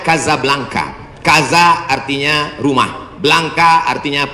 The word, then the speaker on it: Casablanca: Hasan 2 di kota Kazablanca. Ibu kota Maroko. Tempat saya kuliah. Nama negaranya Maroko. Ibu kotanya tulisannya Casablanca. Cara bacanya Kazablanka.